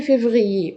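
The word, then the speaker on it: février: مرة كمان، جانفيي فيفريي، قلنا ايه المشترك فيهم؟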